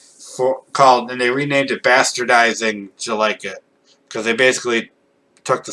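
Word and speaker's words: Jellikit: It's not Jelly-Kit, it's Jelike-It. Because he says, Jelike-It? Like, did you like it?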